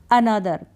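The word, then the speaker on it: another: अनदर, यहाँ पर एक को आपने अ पढ़ा, अनदर का मतलब होता है एक और अनदर।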